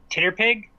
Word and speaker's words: TTRPG: been ttrpgs um or as I saw a tweet tweet suggest a while back calling pronouncing ttrpg titter Pig uh so my big